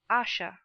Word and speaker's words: Asher: Please pronounce Asha.